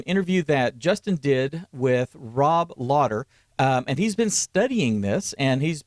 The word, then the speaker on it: Rob: Rob, it's not Robe. It's Rob.